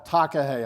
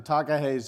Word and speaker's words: takahe: in new zealand there's a bird called a takahe i'm going to spell it for you t-a-k-a-h-e if you do want